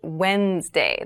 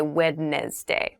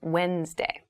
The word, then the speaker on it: Wednesday: So Wednesday is the middle day of the week, but keep in mind this is pronounced Wednesday. There's a D there, but we don't say Wednesday. We say Wednesday.